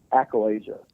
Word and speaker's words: achalasia: And how do you pronounce it first off? Achalasia.